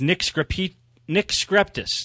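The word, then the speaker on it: Nick Skrepetos: It's from with Nick Skreptis. That's how you say his name. You don't pronounce that E in the middle.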